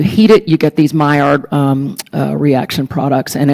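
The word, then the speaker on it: Maillard: a product of the Mayard reaction. There are a lot of different ways to pronounce it. I pronounce it the French way um because I think he was a French guy.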